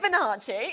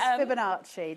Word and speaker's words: Fibonacci: How to pronounce it? Fibonacci. It's Fibonacci.